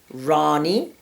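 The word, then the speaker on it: Wrani: I personally like very interesting and different names, and I've had dogs named Rani, spelled with a W, W-R-A-N-I.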